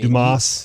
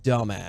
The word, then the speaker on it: Dumas: It's just I mean, Dumas. You can, no, it's pronounced dumbass. All right. Because that's the way my grandfather pronounced it.